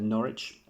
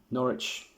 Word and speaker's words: Norwich: So I'm going to talk to you about Norwich and I'm also going to run through Manchester City as well. Norwich, often referred to as Norwich, by US cousins. It's actually pronounced Norwich.